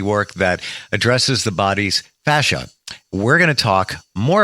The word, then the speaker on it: fascia: Fascia.